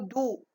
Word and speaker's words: doux: Donc, si je transforme le mot doux en féminin, donc lorsque je transforme le mot doux en féminin, donc je dis douce, ça veut dire ici, je ne trouve pas X dans le mot douce.